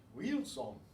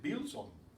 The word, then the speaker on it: Wilson: That's the way they say it in Spanish. Wilson. They might even mispronounce it and say Bilson, because they equate the V and the W sometimes.